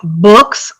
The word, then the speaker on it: books: Books, boots. Books, boots. Again, that first one, is a short vowel sound, whereas ooh is a long vowel sound.